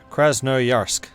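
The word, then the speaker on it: Krasnoyarsk: is done we'll integrate krasnarosk i really know how to pronounce that that's a difficult one my mouth is making shapes it shouldn't make hey sergey kraz no yursk thank you i summoned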